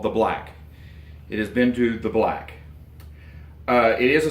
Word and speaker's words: Beinn Dubh: talk to, but it's Beinn Dubh or Beinn Dubh, something like that. Some people put a little bit of a V sound on the end of the second word.